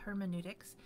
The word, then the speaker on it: hermeneutics: case you haven't heard it pronounced before it's pronounced hermeneutics and hermeneutics is what we call the study of interpretation